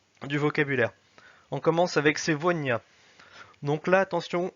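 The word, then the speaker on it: сегодня: On commence avec sevonia. Donc là, attention, on a la lettre G qui se prononce V. Pourquoi elle se prononce V? Parce qu'elle est entre le E et le O.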